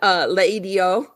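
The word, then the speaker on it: L'Idiot: Or what's the one Laidio in LA Story? It's Mhm. one of my favorite movies of all time. That's a fancy restaurant that's called Laidio, but it's spelled L apostrophe idiot because Yep.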